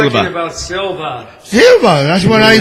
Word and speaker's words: Silva: Silva. You pronounced it like him. Yeah, I know. He has me doing it now. What? Pronouncing it wrong. Yeah. I called her Astrid Silver.